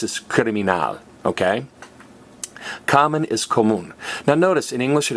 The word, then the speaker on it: común: But we don't say común, we say común. This accent mark helps us put the emphasis on the right syllable.